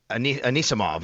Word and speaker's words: Anisimova: She beat the uh fourth seed Amanda uh I I'm Anisimova is I believe how you say it.